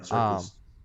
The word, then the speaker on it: Serkis: You said it right, Serkis.